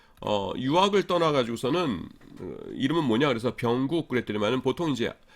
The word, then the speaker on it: 병국: 그래서 제 이름들을 발음들을 못하는 겁니다. 그래서 병국인데 이러는 거예요.